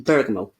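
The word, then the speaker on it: bergamot: I'd recommend would be bergo it's that is spelled with a t b e o g m o t not pronounced with a t Berg I called a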